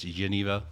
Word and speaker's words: genever: Some people call it Genever. Okay. I was told by somebody who's Belgian who speaks Dutch that it's Geneva.